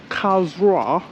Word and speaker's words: Karlsruhe: So is um pronounced cow's raw and it's spelled K A R L S R U H E. So K A R L S R U H E. House Ra.